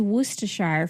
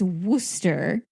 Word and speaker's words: Worcestershire: It is Worcestershire, for those who don't know. I've heard some people mispronounce it.